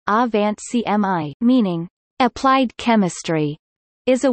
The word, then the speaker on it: Angewandte Chemie: Tangewandte Chemie, German pronunciation, A-Wand CMI, meaning applied chemistry, is a weekly peer-reviewed scientific